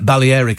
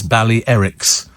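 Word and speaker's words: Balearic: it um uh somebody how come everybody's now pronouncing the uh Bal Eric Islands Bal Erics it's always been Bal Eric everybody on the radio's changed it this year I've always I've always called it the baleric actually and have uh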